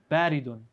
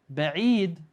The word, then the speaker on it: بعيد: made that mistake, Amir, when you said baridun, right? Because barid means cold. Ba'id, you see there's a stronger I and not barid.